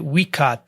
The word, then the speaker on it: Waikato: university of waikato but you pronounce it weakat though sorry and in them